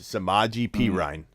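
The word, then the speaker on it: Samaje Perine: um yeah yeah yeah you got both of them wrong it's samaji perine yeah yeah if you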